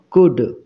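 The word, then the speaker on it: could: silent letter clear যেমন কুড সি ও ইউ এল ডি কুড এখানে এল এর উচ্চারণ কিন্তু হচ্ছে না তাহলে এই এল টাকে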